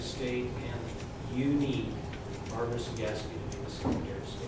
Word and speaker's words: Cegavske: barbara cegaski and i'm here to teach you how to pronounce sagaski so just forget the b and as i tell